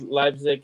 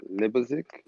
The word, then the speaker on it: Leipzig: Libazik? Is that how you pronounce it? Leipzig? Yeah. Leipzig, yeah.